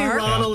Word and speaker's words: Rodil: Rodil. Kind of like Rodildo, but Rodil.